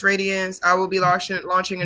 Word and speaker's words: RAE.DIANZ: It is pronounced Radiance.